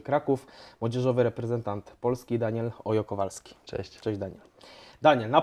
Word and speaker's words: Hoyo-Kowalski: samo jak jest Ola, czyli cześć, to nie to... mówi się Hola, tylko Ola. Okej, dobra, no to to już mamy, także wszyscy, którzy gdzieś tam będą wymawiać nazwisko, prosimy mówić Daniel Ojo Kowalski.